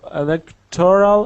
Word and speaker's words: electoral: don't say uh Electro electoral electoral do say electoral how to read this words uh electoral elal comment the accent is on the second not the third syllable and there is no